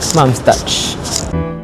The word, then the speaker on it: Mom's Touch: Rhymes with ouch. Hindi pala. Spelling lang. Mom's touch.